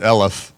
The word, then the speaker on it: Eloff: sec defensive line well he pronounces It elep Like Elephant um but uh um